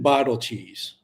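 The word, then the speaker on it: Beidelschies: this up Landon Landon Bal cheese that is how you pronounce it they his nickname is Big Cheese it's a Landon Bal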